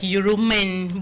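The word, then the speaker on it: Yurumein: So Euromay is Y-U R-U-M-I-E-N. So it's like Euromain, but you don't pronounce it that way.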